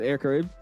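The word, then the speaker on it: Air Caraïbes: You don't pronounce the es. Just air karib.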